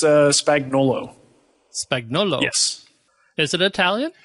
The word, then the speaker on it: Spagnuolo: spelling yeah yeah so you just pronounce it without the u spagnolo and that's uh pretty